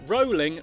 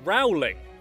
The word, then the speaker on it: Rowling: the way quick tip her name is pronounced JK rolling not JK Rowling we've all been mispronouncing